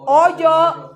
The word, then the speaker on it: hoyo: era aquello Qué dice oyó oyó no hoyo de oír de oír porque dice oyó la gente que pasaba Y está acentuado y hoyo es con h muda Okay entonces oyó oyó